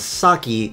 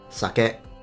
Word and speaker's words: sake: video you'll see that he pronounces the japanese rice wine as saki whereas the japanese pronounce it sake it's fine i mean